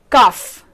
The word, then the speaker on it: cough: Next pronunciation is off, and the word here is cuff. Again you can see the same word, the same combination of word OUGH, but pronounced in a way cuff, right? Off.